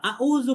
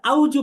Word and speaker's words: أعوذ: 2 number ভুল হচ্ছে আউজু পড়া, আউজু, আউ আউ আউ। আমরা ব্যথা বলে যে বলি আউ, এ আউ পড়াও ভুল। পড়তে হবে আউ, আউ, তারপর হচ্ছে জাল পেশ জু, আউযু। তাহলে এই একটা শব্দ পড়তে